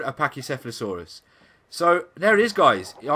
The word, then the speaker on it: Pachycephalosaurus: Now I found a Pachycephalosaurus.